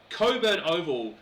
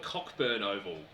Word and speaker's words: Cockburn: That is a silent C and a silent K right next to each other, trying very hard for me not to call it Cockburn Oval. Because it's named after the admiral who also had the silent letters.